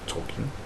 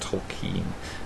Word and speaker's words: Tolkien: on Tak himself John Ronald Ro talkin um actually pronounced toen um but one of